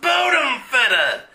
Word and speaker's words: Bodenfetter: Pronounced Bodenfetter. We were Prussian aristocracy.